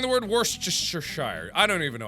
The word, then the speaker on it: Worcestershire: Worcestershire. That was one of my pronunciations. Worcestershire? No. Understand this, but okay. No, that was wrong. Worcestershire. Subscribe. Worcestershire.